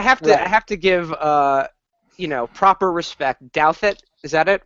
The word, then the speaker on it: Douthat: Douthat, is that it? Douthat.